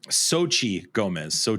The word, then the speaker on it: Xochitl: Here on the Infinity Bros podcast, we are the worst pronouncers of all time. We're pretty bad. Xochitl Gomez is her name.